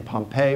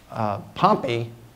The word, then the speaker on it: Pompey: Now, some would pronounce his name Pompey, but Pompey is the city where the volcano erupted. Pompey is the famous Roman general.